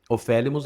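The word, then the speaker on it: ὠφέλιμος: Ofélimos, acento na segunda sílaba.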